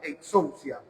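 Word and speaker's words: ἐξουσία: Ahí Juan usa una palabra que se pronuncia exousia, que en griego significa un lugar de privilegio, un derecho y una honra.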